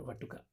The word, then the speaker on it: Vatuka: Vatuka or Vatuka, both are one and same. Vatuka is simple, it is actually Sanskrit correct pronunciation of a younger one, okay?